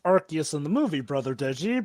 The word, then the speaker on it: Arceus: title arus to a conquering space time it's pronounced archus in the movie brother deji but yes indeed